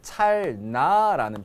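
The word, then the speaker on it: 찰나: 함께 기억해야 될게 바로 찰 라는 표현이에요 우리가 찰라 찰라 이렇게 발음나는 대로 하지만 나라는 불교 용어는 두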